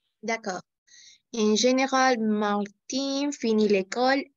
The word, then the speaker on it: Martin: Dans quel cas on va prononcer Martine? Féminin, d'accord? Martine, fine, de la même façon. Cuisine, cuisine, cuisine, oui, cuisine, cuisine, d'accord? In. Mais par contre, on va prononcer Martin, fin, cousin, etc.